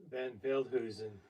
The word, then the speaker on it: Van Veldhuizen: Velten, it's Dutch. Van Veldhuizen. Van Veldhuizen.